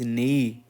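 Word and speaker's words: neigh: राइट answer is, इसको बोलते हैं हॉर्स इज नेई, नेई होता है, नेई, नेई होता है एक्चुअली इसका प्रोनाउंसिएशन नेई।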